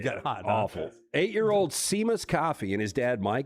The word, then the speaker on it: Seamus: By the way, I'm pretty sure this name is pronounced Seamus. Seamus.